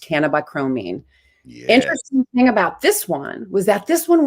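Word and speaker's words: cannabichromene: molecule and it turns into bc and it's pronounced cannabi chromine interesting thing about this one was that this one was discovered before cbca it was discovered in 1966.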